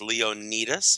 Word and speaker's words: Leonidas: It's pronounced Leonidas.